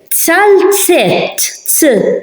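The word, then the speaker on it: zalzett: Tzaltzet, tzaltzet. Can you hear the difference? Zimel, zimel is a horse. Zimel. Tzaltzet, tzaltzet. You heard the difference between z, zimel, tzaltzet, tzaltzet.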